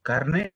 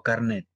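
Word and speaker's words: carné: significados robert ver detenido se dice carne o carnet torné antiguamente era así carnet porque eso es el origen de la palabra viene del francés era un francés no se pronuncia a la vez sólo es carne tambores cuando haya pasado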